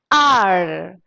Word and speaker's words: hour: So an R. You have to pronounce it as R. An R, because here H is silent. You should not say hour. It's wrong. An hour. Hour.